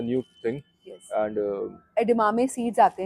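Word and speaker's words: edamame: हाउ डू we pronounce it? एडेमामे।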